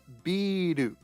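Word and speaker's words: ビール: And this word here is biru, or beer. Beer.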